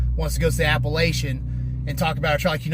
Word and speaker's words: Appalachian: dude that ran the Appalachian Trail you know it's funny you ran that whole trail you still can't pronounce the goddamn name right it's not Appalachian it's Appalachian get it